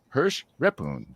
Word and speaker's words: Hersh Rephun: right here we go ready his name is Hirsch repoon how'd I do my uh LinkedIn as my as the my pronunciation of my name that's perfect you nailed